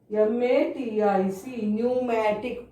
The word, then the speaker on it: pneumatic: PNEUMATIC, pneumatic. P is silent. We are writing but we are not reading its sound.